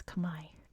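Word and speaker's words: Khmer: the C Empire CH which is not how it's pronounced in Cambodia by the way that's how it's pronounced in English I think it's Kamai in Cambodia the cham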